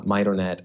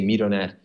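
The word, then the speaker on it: MidoNet: so actually a lot of people use the pronunciation might or net I say me tonette I'll just saying it's fun that middle Cora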